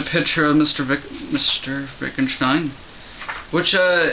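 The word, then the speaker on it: Wittgenstein: of Mr VI Mr Vicken Stein which uh his name isn't spelled Vicken Stein it's looks it looks like won gin Stein it's all German that's yes yes uh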